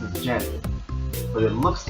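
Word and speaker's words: Djent: It's pronounced as gent, but it looks like the gent. D. That's how it's spelled. The d is silent.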